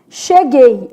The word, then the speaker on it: cheguei: Som de X. Isso aqui é um dígrafo, né? X. U. Não é pronunciado gay. Então não tem tritongo nessa palavra, né?